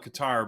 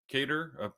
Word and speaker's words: Qatar: I I always call it Qatar, but apparently it's Kater now that it's been in the news a lot.